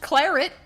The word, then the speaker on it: claret: up cently it's pronounced Claret and it's one of the few words that is not with the hard one of the few French words with a hard T we drink the blood